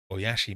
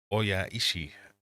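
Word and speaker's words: おいしい: Oashi means tasty. Different word. Oishi. Pronunciation gets me every time.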